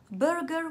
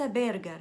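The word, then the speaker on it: burger: النطق الصحيح للكلمة برجر وليس بيرجر.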